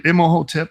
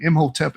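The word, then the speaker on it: Imhotep: Emoteep or however you say his name. Im Hoteep is how I usually pronounce the name.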